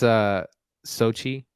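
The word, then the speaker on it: Xochitl: And a newcomer, I don't know how to pronounce her name, so I'm just gonna go for it. It's Sochi.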